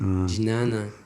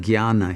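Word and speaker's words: jnana: there are terms like j-n-a-n-a ginana yeah we call it guyana here here yana that's how it's generally pronounced in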